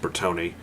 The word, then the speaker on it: Bertone: Yes, it's pronounced Bertone.